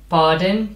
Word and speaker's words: pardon: Not quite, but pardon, pardon. Mm-hmm. Okay. Mm-hmm. Yeah. Right. And the R is not pronounced.